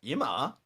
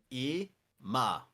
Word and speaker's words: 今: Ima. It's now. Go ahead and say it again. Ima. Ima. And that means now.